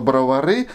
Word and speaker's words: Бровары: Спасибо огромное всем, кто, не глядя в остальные комментарии, написал мне в 100 500 миллионный раз о том, что Бровары правильно говорить с ударением на последнюю гласную.